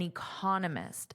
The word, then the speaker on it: economist: So economics, economist. Notice there's a different syllable stress, which is why I wanted to share that. I added that here for you in the lesson PDF, and also I underlined the syllable stress. Now remember, it's the vowel that you will hear the longest and loudest.